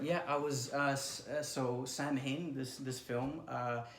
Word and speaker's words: Samhain: award that's right yeah I was us so Samhain this this film it's actually pronounced the real the real festivities pronounced Alwyn but there's a reason why we pronounced the